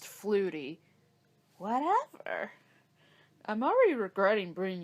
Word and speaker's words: Flutie: me that there was flute flute I it's pronounced Flutie whatever I'm already regretting